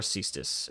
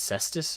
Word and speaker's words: cestus: these before it cus what it's cestus I thought yeah like the Greek fist weapon oh maybe have I been I guess I've been saying it wrong the whole time cestus